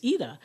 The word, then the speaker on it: Ida: name correctly you know because my name is spelled Ida and you know in English they'll say Ida and it's not Ida it's AA and so she does